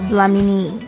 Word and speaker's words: Dlamini: My name's Dlamini.